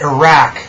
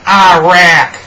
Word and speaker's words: Iraq: That's right, it's pronounced Iraq, not Iraq.